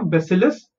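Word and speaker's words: Bacillus: Isolated from the bacterium बेसिलस थरिनजियेंसिस। Okay, let's see हाउ to pronounce this bacteria. Okay, B ए इज बै, सी आई एन इज सिल, एल यू एस इज लस, बैसिलस।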